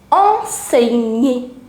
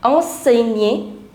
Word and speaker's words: enseigner: Professeur, il aime enseigner. Now here, this is the pronunciation tip. Whenever you see the combination GN, then the pronunciation is N. So enseigner, enseigner, enseigner.